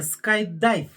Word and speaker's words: Skydive: И правильное произношение Skydive.